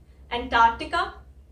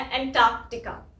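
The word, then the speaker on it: Antarctica: जो आपको इजी है, एंटार्कटिका या एंटार्कटिका। फर्क यही है, एक में मैं वो सी नहीं बोल रही हूँ, ये पहले वाला, एक में मैं बोल रही हूँ। तो उसमें सही क्या है गलत क्या है बहुत कंफ्यूजन है, आप दोनों बोल सकते हो, लेकिन इसको बोलने के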